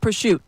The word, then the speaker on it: prosciutto: Yes, like prosciutto. Prosciutto or mozzarella. Or like fagioli. Like, where do we get fagioli? Because, the vowel at the end is there, and yet you don't pronounce it.